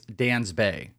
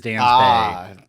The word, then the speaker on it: Dansby: It's Dansby. When he performs like this it is Dansby not base Swanson.